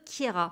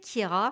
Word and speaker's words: Keira: Keira à l'état civil, elle a inversé le E et le I. Donc voilà, ça s'écrit Keira, mais on prononce Keira, pour la petite anecdote.